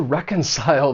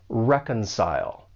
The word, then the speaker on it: reconcile: For pronunciation, the verb has three syllables. The stress is on that first syllable. And keep in mind that the C has more of an S sound. Reconcile.